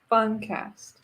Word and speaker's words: Funcast: Super Awkward Funcast is not podcast, it's Funcast. Funcast. All together. If you say it all together fast, it's Super Awkward Funcast.